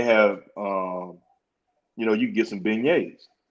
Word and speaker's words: beignet: I said, "It's a beignet, father. That's a beignet. We pronounce it beignet."